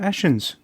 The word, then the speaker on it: Ashen: to the podcast Stuart ashens I'm gonna have to point one thing out though yes I've got my surname wrong okay your surname is Ashen Ashton unfortunately this is